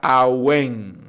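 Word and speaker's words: עָוֶן: primera palabra anótelo ahí es la palabra a wayne así mismo se pronuncia a wayne a w en how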